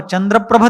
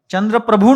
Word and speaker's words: चंद्र प्रभ: वह बिल्कुल गलत है चंद्र प्रभु नहीं चंद्र प्रभ पद्म प्रभु नहीं पद्म प्रभ चंद्र प्रभु कहेंगे प्रभु यानी मालिक स्वामी जो चंद्र के स्वामी है वो चंद्र प्रभु पद्म प्रभु पद्म यानी